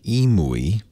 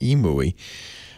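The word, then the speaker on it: EMUI: version of Android called EMU II I think that's how you pronounce it EMU II and then some people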